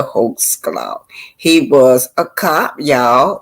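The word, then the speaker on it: Holtzclaw: c l a d That's how you pronounce his name Daniel hul claw he was a cop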